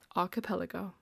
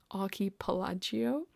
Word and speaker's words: archipelago: I first read it I thought it was pronounced a different way you know Ary pelago archipelago archipelago that's how you say it that's how not